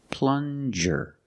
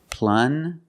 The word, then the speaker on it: plunger: this is a plunger plunger use the regular n and the J J sound like juice plunger this is a plunger